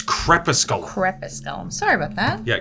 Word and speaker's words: crepusculum: I knew what I meant by it, but I was like, no, it's not corpusculum. It's crepusculum. It's not pronounced exactly that way.